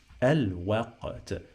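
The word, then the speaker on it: الوقت: It sounds stronger than Q. I say qa. Qaf sounds like qa. Let's add sukun here. This sukun, it means that it is the end of the syllable. So al waqa. T. And then in the end we have this letter ta, it sounds like T.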